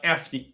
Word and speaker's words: Afni: currently at right now um and uh it's pronounced an right uh afne afne y afne so at apne when you're